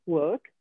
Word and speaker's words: work: Quindi il verbo work, lavorare, mi raccomando non pronunciate la R, la dovete pensare, work.